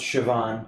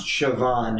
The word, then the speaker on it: Siobhan: what they told me the Irish name is pronounced Siobhan yeah you're right yeah